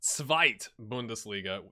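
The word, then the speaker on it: Zweite Bundesliga: it and it's uh it's not the two bundesliga but the svite bundesliga that's from adrian in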